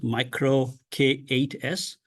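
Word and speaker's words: MicroK8s: And it is spelled as micro K8S, where the word Kubernetes has 10 characters.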